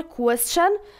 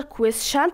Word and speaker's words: question: معنی سوال است که ما question متاسفانه زیادتر question تلفظ میشه اما تلفظ question اشتباه است باید question تلفظ شوه چرا اما بعض از